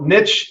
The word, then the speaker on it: niche: You know, niche rhymes with rich.